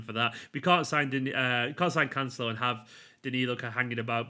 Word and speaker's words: Cancelo: Now, Cancelo, loads of people are telling me I'm pronouncing that wrong, by the way. I asked on Twitter and a couple of Portuguese followers said it's Cancelo. So there you go. Could be Cancelo. Could be.